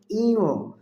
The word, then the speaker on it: ঞ: তারপর বর্ণ টি হল ইও এ বর্ণটিকে অনেকে নিও বলে থাকে আরো বিভিন্ন ভুল উচ্চারণ করে থাকে সঠিক উচ্চারণ হবে ইও তারপরের বর্ণটি হল ট হল অল্পপ্রাণ বর্ণ বাতাসের